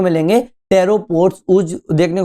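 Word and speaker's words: pteropod: टेरोपॉड ऊज, P silent होता है, याद रखना।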